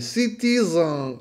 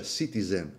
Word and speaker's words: Citizen: era una l'intelligenza artificiale in giapponese Citizen Ma che minchia Sì va bene nel senso che Citizen È un termine inglese significa cittadino quindi uno lo pronuncia Citizen Ok Citizen va bene la e la e va chiusa va stretta chiusa quasi Citizen Ok Così